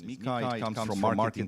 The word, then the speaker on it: MiCA: Some people call it MiCA, but I think the dominant pronunciation is MiCA.